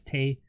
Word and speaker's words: Tay: at that moment me it's tay rhymes with tj take on yeah going